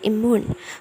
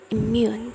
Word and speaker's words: immune: When the native said immune, there is intrusion, the Y sound after the M sound. So it's not pronounced immune, but immune. So there is Y sound in the middle of it, because it sounds better like that.